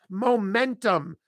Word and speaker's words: momentum: Momentum. Bum, bum, bum. Stress on the second syllable.